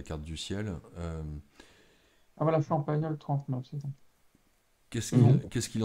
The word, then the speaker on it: Champagnole: s'écrit Champagnole avec un L seulement. Alors, Champagnole, c'est Champagnole.